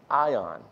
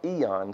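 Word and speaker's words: αἰών: The Greek word that's used there is aion, or eon, sometimes it's pronounced.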